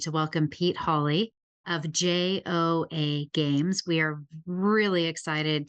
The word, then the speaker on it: Joa: So yeah, it's pronounced Joa, and my co-founder's Korean, and it's a word